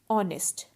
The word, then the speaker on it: honest: the word our and honest so in both these words h is silent so our and honest